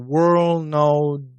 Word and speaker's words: world: For example, world know the or girl using heart.